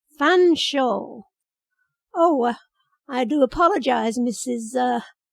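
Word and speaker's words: Featherstonehaugh: Featherstone Haw?" "Fanshawe," I said. "Oh, could I speak to Mrs. Featherstone Haw, please?" "Fanshawe," I repeated. "That's how it's pronounced. Fanshawe."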